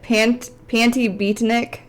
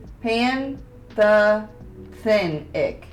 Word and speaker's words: pantothenic: So, chromium 140%, but yeah, you're calling it pantibutenic. I don't think that's how you pronounce that. I'm gonna look it up. Pronunciation. Pantothenic.